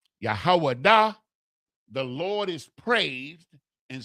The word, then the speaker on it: Judah: That word, H3063, is Yahwadah. Yahwadah. Yahwadah. The Yah, the Ha, the Wa, the Da, the Ha. Yahwadah is the transliteration, right? Which is the proper pronunciation of the word Judah,